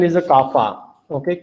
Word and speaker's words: kappa: The pronunciation is a kappa.